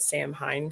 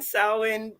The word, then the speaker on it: Samhain: period of samhain um i was pronouncing that sam hein for a really long time uh so i was glad that okay rookie good job so being in samhain um and and many